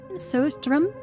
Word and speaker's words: surströmming: And it's not, Sistering, pronounced Söström.